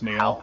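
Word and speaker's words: Hoult: in it Nicholas Holt how how do you say his last name Nicholas Neal that's how you say it it's me Lily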